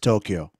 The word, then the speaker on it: Tokyo: here we in English we call it Tokyo, but there it's spelled the same, but it's pronounced Tokyo.